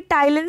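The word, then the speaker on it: ptyalin: देखिए, टाइलिन से कन्फ्यूज़ मत होएगा, इसकी स्पेलिंग होती है पी से स्टार्ट होती है, जिसमें कि पी साइलेंट होता है, और कहीं कहीं इसका नाम सलाइवरी एमाइलेज भी बोलते हैं।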